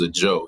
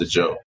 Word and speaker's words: Ajou: My name is Ajou. It's pronounced Ajou.